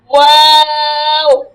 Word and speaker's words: واو: واو ঠোঁটটা পুরা গোল করতে হবে আপু, ওয়া উচ্চারণের সময় ঠোঁটটা পুরা গোল করে তারপর ছেড়ে দিয়ে আবার অফ করতে হবে, যেমন ওয়াও।